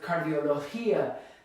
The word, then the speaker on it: cardiología: So now this is a hia, it ends with cardiología. This is where the stress is. Because we need to stress that last syllable and it ends in a vowel, well, that breaks a rule, so we have to put a written accent on it.